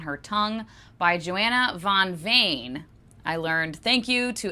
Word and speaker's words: Veen: Tongue by Joanna von Vain. I learned thank you to Esme for letting me know the Dutch pronunciation there is uh vein is actually like vain, more like vain.